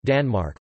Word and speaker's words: Danmark: Denmark, Danish, Danmark, pronounced Danum, listen, officially the Kingdom of Denmark, is a Nordic country and the southernmost of the Scandinavian nations.